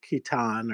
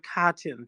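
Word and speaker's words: Katyn: Um who committed the war crimes in Kitan or Kitan or however you say that. Um yeah, so uh reconsider history. No, Kachin.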